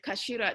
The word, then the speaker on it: CA4LA: do a deal with kashira do you know kashida they do um hats in japan it's spelled ca4la oh yeah yeah yeah